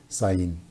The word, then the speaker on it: Zayin: de la letra hebrea Zayin. Se pronuncia esa letra hebrea como si fuera una Z española.